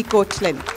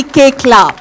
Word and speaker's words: Koechlin: help me in welcoming कल्की कोचलिन कल्की केकला it's pronounce केकला कल्की केकला A Revati was really sad